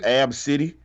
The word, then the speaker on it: Abcde: name was spelled ABCDE but she said it's pronounced AB City they're making fun of your